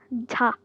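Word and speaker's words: ㅈ: Then we have ta, ta, like the letter J, ta, ta.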